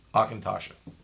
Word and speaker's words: Auchentoshan: Auchentoshan.